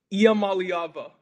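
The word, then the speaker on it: Iamaleava: Iamaliava.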